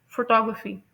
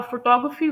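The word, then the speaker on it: photography: तो इसकी right pronunciation है फोटोग्राफी। और फोटोग्राफी वर्ड में जो सेकंड सेलेबल है ना टॉक वो स्ट्रेस है।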